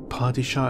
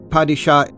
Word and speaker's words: Padishah: a female goola goola padishah Emperor party Shah is a very standard word patty shot sardick are pronounced in